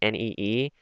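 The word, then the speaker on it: 你: So like when I like to think of it like nee or knee, like your knee, that makes more sense to me and like helps me sound it out better.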